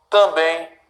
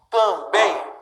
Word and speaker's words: também: Também. Parabéns. O que eu tenho, pessoal? Sílaba tônica dessas palavras que eu acabei de dividir, né, é sempre a última.